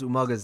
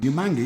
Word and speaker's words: Umaga: And he still couldn't quite manage to pronounce Umaga's name. Umanga, yes, big Samoan fellow, funny hair. Umaga. Yes. Try it.